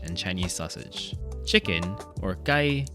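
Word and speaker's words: 雞: Chicken, or gai, sounds like the phrase hosai gai, which literally means a good world and represents a good life.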